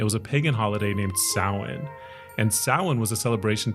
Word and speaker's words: Samhain: It's pronounced Samhain though.